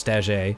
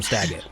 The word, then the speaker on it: Staggett: I also mispronounced his name as Staget, so for canon now I'm saying it's actually pronounced Staget, and he's French, but you all call him Staggett, so we're going with that.